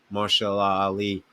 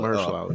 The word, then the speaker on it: Mahershala Ali: invested in Marshall Ali, like Mahershala. they can't afford. Oh, I mispronounced his Yeah, Mahershala. Mahershala. Mahershala Ali.